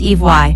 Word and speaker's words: Ivi: In the Polynesian language every letter in a word is pronounced. Thus Ivi in Polynesian is pronounced Ivy.